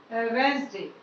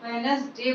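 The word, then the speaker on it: Wednesday: है यह है वेंसडे, जिसको ज्यादातर लोग वेनसडे बोलते हैं। इसका प्रोनाउंसिएशन वेनसडे किया जाता है ज्यादातर लोगों के लिए, लेकिन सही जो इसका प्रोनाउंसिएशन है वो है वेंसडे। वेनसडे गलत है और वेंसडे सही है।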